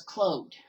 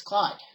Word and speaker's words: Claude: now for disclaimers sake even though his name is spelled by Claude see lau de in the show he's name as clothed so yeah that always is a sticking point if your french-canadian you know that it's Claude but anyway now I'm